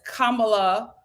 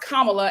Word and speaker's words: Kamala: her name wrong and pronounce it as Kamala it's pronounced Kamala and they pronounce it Kamala as a subtle form